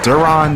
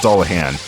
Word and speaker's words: Dullahan: And Duran, that's actually a misspelling. It's pronounced Dullahan.